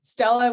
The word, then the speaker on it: Stella: And yeah, I'm Stella with Brella. So I recommend everyone go and work for a company that rhymes with your name.